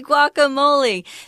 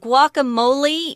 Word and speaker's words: guacamole: So they actually say guacamole with an A at the end instead of an E, but either way is fine.